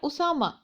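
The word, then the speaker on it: أسامة: या फिर हम बात करते हैं उसामा। तो उसामा जो लफ्ज़ है इसके एंड में भी, इस इस्म के एंड में भी गोल ता आती है, बट हम उसको हा प्रोनाउंस करते हैं।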